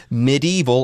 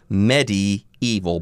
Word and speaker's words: medieval: The first of these is the word medieval or medieval. Both pronunciations are okay.